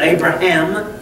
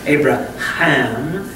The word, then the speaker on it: Abraham: the letter H and the H is pronounced with a breath okay and that breath